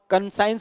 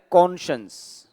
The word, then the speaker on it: conscience: कहा जाता है, तो मैक्सिमम लोग इसको कंसाइंस बोलते हैं, CON कन, और यहां पर इनको स्पेलिंग दिख जाती है साइंस की, कंसाइंस, जबकि कंसाइंस नहीं होता, इसको बोला जाता है कॉन्शंस।